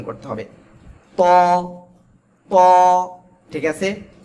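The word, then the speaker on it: ط: গোড়া গোড়ার সঙ্গে লাগাবেন লাগিয়ে মোটা আওয়াজে উচ্চারণ করতে হবে এই যে দুই দাঁতের গোড়ায় লাগাবেন ঠিক আছে ত ত আর এক আলিফ টেনে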